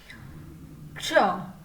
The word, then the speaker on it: क्ष: तो क आधा प्लस स आधा प्लस अ, इन तीनों को मिलाकर क्ष बनता है। क्ष, आप जब क्ष का उच्चारण करते हो